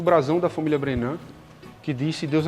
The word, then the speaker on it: Brennand: nós que na verdade a família brennan não é de origem francesa é de origem inglesa então houve um afrancesamento na pronúncia aqui no Brasil né passou falar bem né